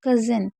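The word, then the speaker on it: cousin: क्योंकि ओ यू को यहाँ पर आ पढ़ा जा रहा है।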